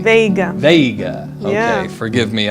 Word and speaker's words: Veiga: Did I pronounce that correctly? Veiga.